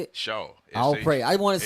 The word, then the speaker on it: Shaw: Shaw. I'll pray. I want to say it S-H-A-W.